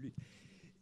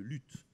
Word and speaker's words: luth: Vous, je ne sais pas, mais moi, j'aime beaucoup le luth. D'ailleurs, à ce propos, une petite remarque. Il ne faut pas dire le luth. Il faut dire le lu. C'est une question de prononciation ancienne.